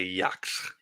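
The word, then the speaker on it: Yhwach: Is it Yak or Yayak? I'm never quite sure how to pronounce his name. It's like I a just say Yacht. It's like Yacht, like a T at the end. It's German.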